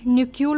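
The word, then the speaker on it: knuckle: देवर न्यूक्यूल walker, इसका मतलब यही है, के को आप साइलेंट रख सकते हो, न्यूक्यूल वॉकर का मतलब होता है थोड़ा सा टेढ़े होकर चलना, झुक कर चलना।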